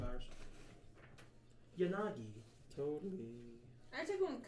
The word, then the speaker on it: Yanagi: How do you pronounce her name? Yanagi. Sorry. Spell her name. Yeah. Sorry. Y-A-N-A-G-I.